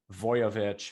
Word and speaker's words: Voiovich: And when you sound it phonetically, you think, oh, that makes sense. But if you just start typing in Voiovich, Voiovich, usually it fills in the rest, which is nice.